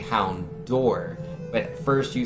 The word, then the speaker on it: Houndour: If by Hound Hour, when you typed it H-O-U-N-D, line, and then hour as in like on a clock, which is the incorrect way to say it. If by spelling it like that, you somehow meant Houndour, D-O-O-R, then yes.